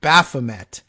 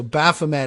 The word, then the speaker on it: Baphomet: uh at any rate so Baphomet I guess putting the emphasis on the first syllable I don't know if it matters a great deal maybe it's even more satanic that I refuse to uh pronounce it to allegedly correctly on this but anyway uh weird